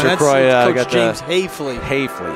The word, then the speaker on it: Hafley: Hafley, it's Hafley. A long A there, yeah.